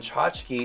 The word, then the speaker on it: Chachki: I spell it like the way it sounds, which I think is supposed to be easier for people to understand and to pronounce, but people still have problems with it.